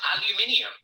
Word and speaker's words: aluminium: the next one is aluminum aluminum you're losing a syllable aluminium aluminum how are you